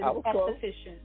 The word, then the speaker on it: esthetician: But esthetician, you were very close, but that's the way you pronounce it, esthetician.